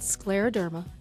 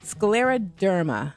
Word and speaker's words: scleroderma: All right, now pronounce that for us. It's called Scleroderma. Scleroderma.